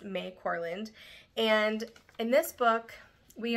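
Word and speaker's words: Mai Corland: title this is by may corand it might be my corand but I believe it's pronounced May corland and in this book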